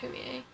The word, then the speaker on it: Fumie: My sister's middle name is also Japanese, and it's spelled Fumie, Yeah. and it's spelled Humie, Yeah, it's pronounced Humie. but it looks like Fummy.